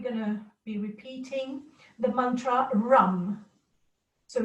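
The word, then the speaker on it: रं: be repeating the mantra rum so it's our am just like ram but then it's pronounced rum it's not a it's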